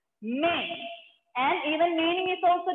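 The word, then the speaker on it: mais: Without trema symbol, when you have this word, the pronunciation is may. S will be silent and the pronunciation is may.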